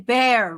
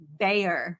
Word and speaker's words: Bayer: You're saying bear, rawr, and I'm saying Bayer with a Y. No one pronounces the Y.